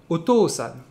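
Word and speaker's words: お父さん: Votre père, Oto-san. Et là, on est sur un mot super honorifique. Donc, on est sur le format traditionnel O plus kanji plus san. Ici, le kanji va se prononcer to.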